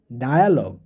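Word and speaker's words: dialogue: এটার উচ্চারণ হবে ডায়া, ডায়া, ডায়ালগ বা কথোপকথন, ডায়ালগ, ডায়মন্ড, লায়ার, লাইবিলিটি।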